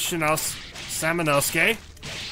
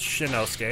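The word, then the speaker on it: Samanosuke: My name's Samonosuke. I keep mispronouncing the name and thinking it's Shinosuke, and it's not.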